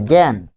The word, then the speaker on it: জ্ঞান: যে জ্ঞান, যখন বলছি যে জ্ঞান, দেখুন এখানে বর্গীয় জ ইয় যোগ স্বরে আ এরকম রয়েছে, এরপর এখানে দন্তন্য রয়েছে। তাহলে এটি স্বাভাবিক উচ্চারণ হবে না, এটি হবে এ এর মতো, এ এর মতো।